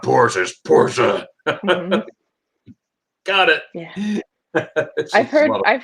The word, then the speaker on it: Porsche: getting smoked on the highway by all the porsches right yeah right and and that that is the correct pronunciation of porsche because a lot of people say horse will correct you very quickly it's not porsche's porsche got it i've heard i've heard both in